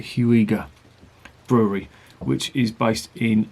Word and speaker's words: Huyghe: tremens by the huger I think I say you pronounce it huger brewery which is based